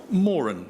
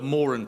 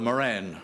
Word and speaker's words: Moran: gently remind everyone that the family name in this prize is pronounced more'n so these are the Morin prizes not the Moran prizes as always of course